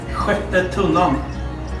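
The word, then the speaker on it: Sjätte Tunnan: So, what can you pronounce the name of the restaurant in Swedish? Sjatte Tunnan.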